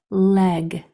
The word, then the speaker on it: leg: an a in the middle but if you pronounced it properly it would come out as e leg I have two legs okay I am going